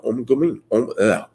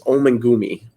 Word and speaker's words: Omengumi: their executive director, Andrea Omgumi. I always say it wrong, but it's Omengumi.